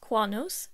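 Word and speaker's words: κυανός: get their name from the greek word for their color pronounced cuanos meaning blue green the color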